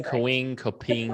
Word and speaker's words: Kapwing: And there's an app called Kapwing. Have I said that right, Ev? I think so. I used to say it wrong all the time, but that is Kapwing.